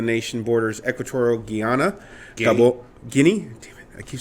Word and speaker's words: Guinea: I think it's isn't it the Gulf of Guinea G is it Guana or guinea guinea that's how you pronounce it I think it's golf of guinea